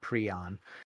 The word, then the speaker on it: prion: the term prion and he actually pronounces it pre on um in 1982 and